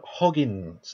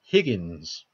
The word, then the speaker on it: Higgins: John Hoggins. No, said the name wrong. John Higgins.